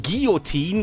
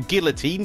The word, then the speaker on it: guillotine: is this baby it's the falling guillotine or guillotine depending on how you want to pronounce it sword and what's cool